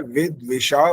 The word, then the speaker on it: विद्विषा: इसका उच्चारण होता है विद्विषा वही, वही नहीं। ही जब बोलेंगे तो बड़ी की मात्रा लग रही है, तो वही बोलने से लग रहा है आई की मात्रा है, बस ये फर्क है।